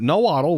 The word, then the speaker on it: Nahuatl: So we'll have nahuatl, which is how that is supposed to be pronounced, which is kind of funny.